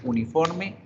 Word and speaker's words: uniform: Y fíjense que la palabra uniforme, su pronunciación empieza con una J, un sonido de J, que el sonido de la J en inglés es una Y, Y.